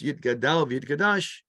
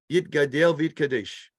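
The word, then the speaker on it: Yitgadal v'yitkadash: by the Mishnah Brura, that we should pronounce Yid Gadal V'Yid Kadash, Yid Gadel V'Yid Kadesh. And they argue because it's Hebrew.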